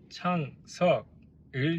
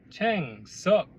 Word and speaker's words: 창석: 서툰 발음으로 제 이름을 챙석 이라고 부르는 게 마치 놀리는 것처럼 들리기도 했습니다.